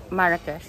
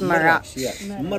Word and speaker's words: Marrakesh: recommended a beautiful place How do you say marak marak It's Mar Mar saying we're saying it wrong beautiful City Mar